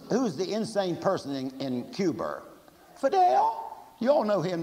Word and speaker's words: Cuba: man in cuba well that's the way that jfk he pronounced it and he and he was trained at hall but you know you know he said cuber i know it's supposed to be cuba but who's who's the